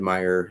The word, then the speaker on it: Meijer: um so yeah a little bit different but meyer is a good place to get lego and